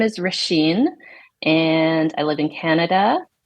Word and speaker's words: Roisin: Thank God you said your name, because yes, I know it is not spelled like that at all. No, that's Gaelic for you. Say it one more time for me. Roisin.